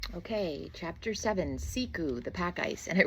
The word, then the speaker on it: siku: So like siku, s i ku is pronounced secu.